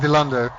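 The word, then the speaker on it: Dilandau: Dilander is and it's properly pronounced Dilander.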